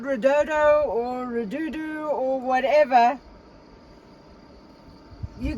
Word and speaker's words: Redodo: Redodo. Redodo.